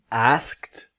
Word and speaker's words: asked: the past, we've got asked, told, and called. So let's learn that a bit better. Asked, so A-S-K-E-D, but the ED has a different sound. It has a T sound.